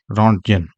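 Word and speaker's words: Röntgen: 1895 में साइंटिस्ट थे Wilhelm रॉन्टजन। ये रॉन्टजन इसको अलग अलग प्रोनाउंसिएशन है, ये इंग्लिश प्रोनाउंसिएशन है रॉन्टजन।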